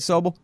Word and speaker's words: Sobel: Oh, am I saying it right, Sobel? Yeah.